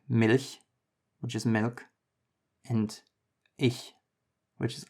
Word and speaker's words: ich: The sound is It is essentially the same as the other version, which is like jalapeño, but instead of being pronounced in the throat, try to move the sound to the top of your mouth.